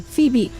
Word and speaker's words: Phoebe: That Vivi outro, not Vivi, Phoebe.